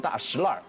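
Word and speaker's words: 大栅栏: 你不能看那个字的发音，因为北京很多发音是满语，对，满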